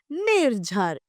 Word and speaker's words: निर्झर: तो हमारा शब्द बना निर्झर। अब इसमें नी नी के बाद में हम र का उच्चारण करेंगे।